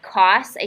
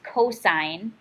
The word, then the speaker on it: cosine: is 4 over 5 cosine is cos so it's not cost a here cost a lot that is cosine so cosine of theta